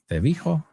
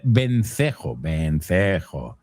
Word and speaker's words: vencejo: How do you say that? Cevijo? Ceviche? Swift, vencejo would be the word.